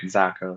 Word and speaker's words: Zakos: Well, you just said it right, Zakos.